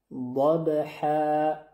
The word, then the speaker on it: ضبح: یکی از حروف اخفا است ضح دقت کردی ضبح دیگه دقت داشته باشید حرف حا اینجه خوب شفاف از وسط ح تلفظ شوه د ح ح و هم بی